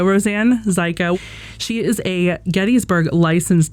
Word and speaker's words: Zajko: have Roseanne psych psycho rhymes with psycho Roseanne zyko she is a Gettysburg